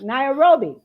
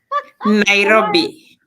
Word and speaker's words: Nairobi: Well, listen, she is from Kenya, Nairobi. Did I pronounce that right? Nairobi. Okay. Nairobi.